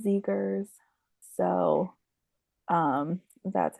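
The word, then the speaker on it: Zegers: I should also know I've been saying his last name wrong I'm sorry Kevin I love us I love us yeah we're so unhinged sometimes yeah it's Zagers so um that's how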